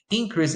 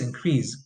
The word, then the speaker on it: increase: So you have the noun, which usually receives the stress on the first syllable, and the verb, which usually receives the stress on the second syllable.